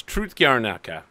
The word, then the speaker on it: Trud Gornyaka: forgot Wing it's called tro gaka I know it looks like TR but it's truth gaka two months have passed